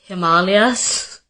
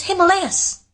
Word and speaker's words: Himalayas: ashwagandha and Himalayas, it's Himalayas, and it's ashwagandha.